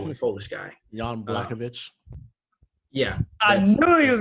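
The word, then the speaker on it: Jan Błachowicz: rain hopefully uh john black sugar i can't pronounce his name uh he's supposed to be the foolish guy yon blackovich yeah i knew he was gonna say it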